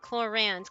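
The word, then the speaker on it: Clorinde: Chlorine is pronounced as a chlorand. Chlorand is it's spelled as it's spelled. Yeah, wrong.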